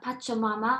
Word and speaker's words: Pachamama: album um mother earth and it's called uh pachomama i think i'm pronouncing it right esther would you do you